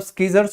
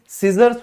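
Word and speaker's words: scissors: शुरू में कई बच्चे क्लास में मुझे कहते थे सर कैंची मतलब स्कीजर्स होगा ना, मैं कहा नहीं बेटा, इसे सीजर्स बोला जाता है, सीजर्स।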